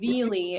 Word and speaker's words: Veely: Veely. It's Veely? yeah, just pronounce that the Y is another E.